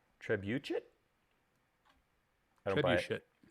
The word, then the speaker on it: trebuchet: The actual proper pronunciation I see is Trebuchet. should So you're hitting that last T apparently. Trebuchet?